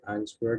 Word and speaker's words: answer: Answer, remember that W is silent, la W no suena.